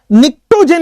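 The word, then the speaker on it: pnictogen: निक्टोजेन इसको बोलते हैं, पी साइलेंट है, निक्टोजेन।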